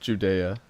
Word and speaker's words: Judea: And this is pronounced Judea, by the way.